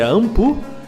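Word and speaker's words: Anpu: uma estrela do Deus Anubis que é a pronúncia é ampu e do Deus sobec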